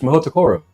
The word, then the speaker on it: Mahoutokoro: It's a little hard to pronounce. What is that word? Someone told you that's where we went to school. It's Mahoutokoro.